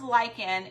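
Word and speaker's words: lichen: It's pronounced lychen.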